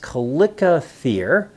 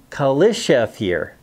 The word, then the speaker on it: chalicothere: Now, I've heard it pronounced calicothere as well as chalicothere, like the word chalice.